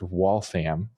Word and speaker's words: Waltham: So so it's correctly pronounced Waltham Wam. Yep. That's if you're if you're from the area you know that's how you say it.